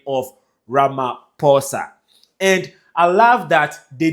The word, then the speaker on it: Ramaphosa: As you've already started doing, Ramaphosa.